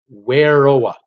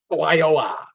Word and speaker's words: Wairoa: That's how you pronounce Wairoa. Wairoa.